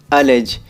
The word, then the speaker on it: allege: आखिरी वर्ड है हमारा गाइज अलेज, और इसकी राइट प्रोनाउंसिएशन होती है UHLEG, अलेज।